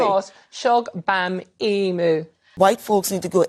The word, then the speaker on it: Mos-Shogbamimu: Do it again and read it Shola phonetically. Mos-Shogbamimu. You just missed the beat.